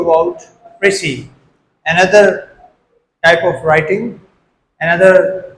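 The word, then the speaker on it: précis: इस वर्ड की जो प्रोनाउंसिएशन है that is प्रसी एंड समटाइ्स इट is also pronounced eight प्रसी। प्रसी और प्रसी depending on हाउ you pronounce it. This word और the word प्रिसी comes from French language. प्रसी जो है वह फ्रेंच लैंग्वेज से ली गई है।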